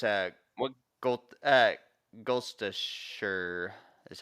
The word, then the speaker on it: Gloucestershire: Gloucestershire is how you say it. Is the country? Yeah, I can spell it out for you.